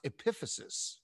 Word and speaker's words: epiphysis: The thing on the right is pronounced epiphysis, okay?